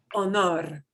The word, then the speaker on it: honor: We pronounce our emphasis on it is different, but it means the same thing. Honor. Honor. Honor. Yeah, we punch the second O harder in Spanish.